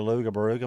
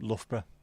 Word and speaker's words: Loughborough: Do you know the way to Luga Baruga, mate? Yep, Loughborough. There's some insane pronunciations.